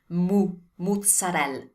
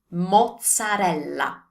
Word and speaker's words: mozzarella: Do you see an U there? There's no U there, so we don't say the U sound. It's an O sound. Mozzarella. Mozzarella. So remember, pronounce your ending E as A. The O is O, never U. And also double Z like in pizza, mozzarella. Molto bene.